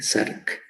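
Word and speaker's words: Src: Miren, la proteína sinasa SARC se pronuncia como si hubiese una A después de la S, SARC.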